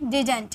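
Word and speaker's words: didn't: इसकी प्रोनाउंसिएशन दो होती है। या तो आप डिडट यूज़ कीजिए या तो आप डिडंट यूज़ कीजिए। दोनों इसकी प्रोनाउंसिएशन होती है। आप डिडट बोलिए या डिडंट बोलिए। बात एक ही है।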